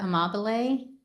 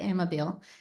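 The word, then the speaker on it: Amabile: what we discussed here Dr. Teresa Amab, that's how you pronounce it. Some people say Ammobile.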